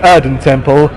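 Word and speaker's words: Erdentempel: How do you feel I'm going to apologize if I pronounce this wrong. How do you feel Erden Temple shows the evolution of the band compared to the sound you had back on Tourist Frontier?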